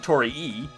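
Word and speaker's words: 鳥居: Also, I find it really hard to try and pronounce Tori correctly because of Tori cuz Tori is bird or chicken, one of the two. And Tori E, which is Tori but with two eyes, is the gate.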